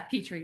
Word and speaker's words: Petri: Petri like petri dish.